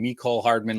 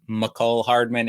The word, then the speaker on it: Michael Hardman: the football podcast i've been saying me cole hardman like a bunch even though it's michael hardman and uh it's been